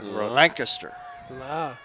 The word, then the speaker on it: Lancaster: No, it's spelled correctly. It is Lancaster.